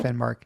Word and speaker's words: Finnmark: Is that how you pronounce it? Yeah, that's right. Finnmark.